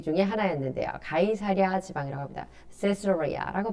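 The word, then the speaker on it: Caesarea: 세스로리아라고 발음합니다.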